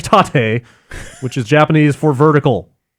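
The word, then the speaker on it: 縦: here is one from Grant taught a is pronounced like taught a which is Japanese for vertical incidentally yoko is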